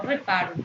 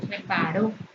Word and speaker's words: reparó: Y lo correcto es decir que reparo, no reparo, reparo. La máquina, no máquina, sino la máquina.